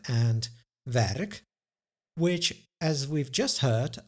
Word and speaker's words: werk: We hear a tiny extra in other words, the schwa, stomme e or the mute e that I discussed in the previous lesson, but we don't write any letter to indicate this sound.